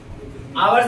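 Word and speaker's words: hour: ठीक है, आवर से पहले किसी का प्रयोग होगा? एन का, ए का। भाई यहाँ पे तो एच से शुरुआत हो रहा है, क्योंकि पढ़ते और।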